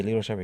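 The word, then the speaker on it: Lito Sheppard: Are we pronouncing his name right? Yeah, Lito Shepherd, yeah.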